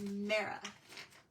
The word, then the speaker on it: Mara: All this time, I've been saying her name wrong. Her name is Mara.